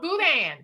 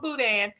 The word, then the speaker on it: boudin: didn't know what was going on it's called boudan some people spell it d-a-i-n but you can get it smoked